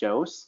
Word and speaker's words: Joos: my name is Jose I know it's weird it's jose jos it's pronounced like josie and the pussycats without the e and the pussycats if